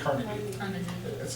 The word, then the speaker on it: Carnegie: Did she pronounce it Carnegie, or did she go with Carnegie? People, today we say Carnegie, back then it was Carnegie.